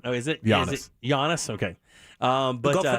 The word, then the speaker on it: Giannis: people expected the sun i had to teach them this the g is silent oh is it honest giannis okay um but go